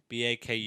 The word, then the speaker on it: Baku: week they have that new how do you pronounce it Baku b a KU Baku yeah it's in asistan that's where it